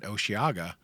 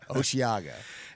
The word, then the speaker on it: Osheaga: we're talking today up in h Canada at osaga yeah and I wanted to shift to that